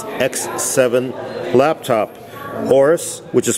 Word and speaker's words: Aorus: Orus, which is spelled AO R U S, is a new